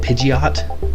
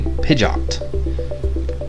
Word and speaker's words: Pidgeot: I think it is I've always pronounce it Pidgeot so I've got Pidgey Pidgeotto and pidgeot but I think it's actually pijat yay mohawk bird always